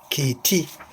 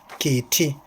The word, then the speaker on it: kiti: the one that is in usual use is kiti, kiti, spelled K-I-T-I this way, K-I-T-I, kiti, that is for cat.